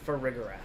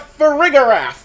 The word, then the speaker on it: Farigiraf: Yeah, my only problem with it is the pronunciation, because, you'd think that they'd have giraffe in the name, but no, they gotta go with the other version of G for the name, which, it bothers me, but you know what, Farigiraf sounds fine.